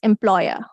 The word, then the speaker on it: employer: Okay, the last one is oya, as in employer, employer, right? So we don't pronounce R, it's employer.